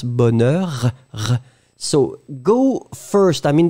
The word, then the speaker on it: bonheur: I mean, the for the pronunciation, you go strong in the beginning and you tend to reduce. Like for the sounds, you make them last longer and after that you reduce.